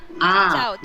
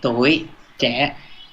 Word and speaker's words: tuổi trẻ: Did I pronounce it correctly? Chào. Yeah, Chao Che.